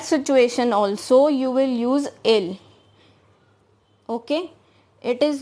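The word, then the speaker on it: ils: next personal pronoun is ill now here i have written i l s but the last word s is silent here so we will not pronounce that and ill means they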